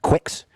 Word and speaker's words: QUX: ironically, it actually is supposed to be pronounced Quix.